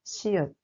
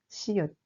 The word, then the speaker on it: 시읒: We pronounce it s.